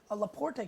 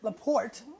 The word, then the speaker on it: Laporte: from eagle rock winery laporte california the port do not pronounce the e at the end la porte uh pennsylvania